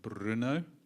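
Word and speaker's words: Brno: um you're going to help me with the pronunciation Bruno B RN o in the Czech Republic so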